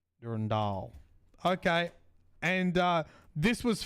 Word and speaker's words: Durandal: Durandal.